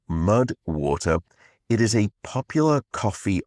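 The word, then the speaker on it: MUD\WTR: today's podcast comes in mud water and it is spelled mud wtr so mud water it is a popular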